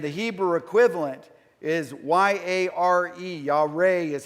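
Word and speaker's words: יָרֵא: the word and the hebrew equivalent is y-a-r-e y'all re is how it's pronounced and it's the same idea and it's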